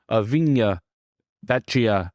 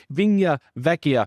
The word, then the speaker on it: Vigna Vecchia: Locke and our review avina betcha excuse me I just mispronounced it again Restaurante vinya Vecchia from the hit Netflix